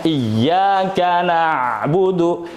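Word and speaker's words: إياك نعبد: Dibacanya iyyaka na'budu, iyyaka na'budu. Coba bayangkan ketika ditahan. Nah itu nahan betul ya? Tekan terus ditahan. Nah, ketika ditahan itu jadi lama disangkanya mad. Hati-hati.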